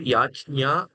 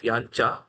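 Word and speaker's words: यज्ञ: Yajnya uh is also sometimes people pronounce it and sometimes it is yancha. So here it is yancha.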